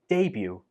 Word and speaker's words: debut: Number 12 is debut. Debut. There is no t sound in this word, even though the spelling uses the t, do not pronounce the t. So do not say debut. Say debut. Debut.